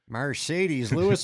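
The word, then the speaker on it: Marcedes Lewis: Mercedes Lewis.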